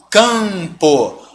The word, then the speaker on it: campo: Então, vamos entender que esse M não traz nenhum som diferente. Você não vai falar campo. Esse M você não pronuncia. Ele só está me dizendo que esse A é nasal.